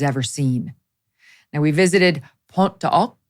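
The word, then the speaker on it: Pointe du Hoc: Now, we visited Pont de Hoc. That's how you're supposed to pronounce it. It looks like Point de Hoc, Pont de Hoc, and Omaha Beach.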